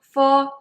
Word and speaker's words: fo: Bo, po, mo, fo is actually English letters with a vowel sound o.